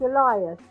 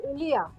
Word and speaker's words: Elia: I'll give you my dad's name, which is Elias. But in That's a Greek, good name. That's how you pronounce it in English, but in Greek we say Elia. Elia?